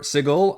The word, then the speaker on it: Sigil: Um, this allows you to explore Sigle a little, which I hate that pronunciation, but that's the official one.